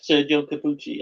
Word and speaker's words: Sergio Corbucci: Yeah, Sergio Corbucci.